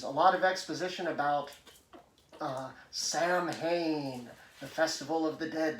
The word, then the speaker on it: Samhain: is important to note that it is properly pronounced samhain not same but dr loomis again chewing the